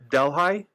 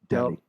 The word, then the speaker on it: Delhi: Delhi? You're close. Am I close? Your pronunciation is pretty effed up, but you are right. What is the pronunciation? Delhi.